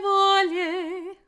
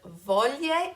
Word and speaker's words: voglie: The next one has to do with the words voglie and foglie. Again, be careful not to add an extra vowel in there, volie and folie, but rather there's this beautiful glide, voglie, foglie.